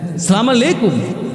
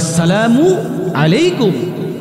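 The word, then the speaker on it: السلام عليكم: করে থাকি এক নাম্বারে অশুদ্ধ উচ্চরণে সালাম দেই অনেকে মুসলমান সালাম দেয় السلام علیکم আছে না নাই সালামু আলাইকুম এগুলো দেওয়া যাবে না আসসালামু আলাইকুম শুদ্ধ উচ্চারণে সালাম দিতে হবে দুই নাম্বার যে ভুলটা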